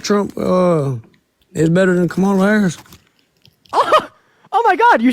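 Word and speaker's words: Kamala Harris: don't think Trump trump uh is better than Camala haris oh my God you said it right wow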